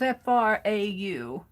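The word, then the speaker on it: Frau: german ladies are f-r-o-w i thought it was f-r-a-u f-r-o-d but they're still pronounced fra cat can't forget the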